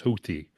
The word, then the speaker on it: Houthi: Well, then actually that's it's actually kind of funny is that's the proper That's the proper NPR pronunciation now is Houthy.